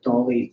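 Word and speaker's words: DALL-E: I believe it's called Dolly 3, like probably pronounced like Wally, but Dolly 2, sorry.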